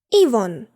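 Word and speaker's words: Yvonne: Наприклад, ось це жіноче ім'я. Спробуй прочитати. Івон.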